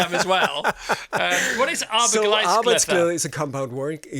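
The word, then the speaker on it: arbejdsglæde: Arbeitsglæde.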